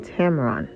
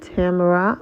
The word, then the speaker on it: Tamron: challenge Tamara Hall and I'm saying Tamron not Tamara or Tamara okay 24 hours after